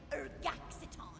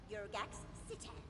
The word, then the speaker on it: Urgaxitan: How are we supposed to summon a proper demon when you insist on pronouncing it Urgaxiton, when it is clearly written right there? Urgaxitan.